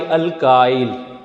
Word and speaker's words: alkyl: कर दें बाई YL तो it will be pronounced by अल्काइल।